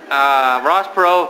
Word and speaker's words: Perot: race, proving again that if you have a silent T in your last name, you cannot become president. Paul Tsongas. Silent T does not work.